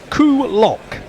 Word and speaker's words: Coolock: The place I was trying to pronounce is Coolock, which is somewhere near Malahide.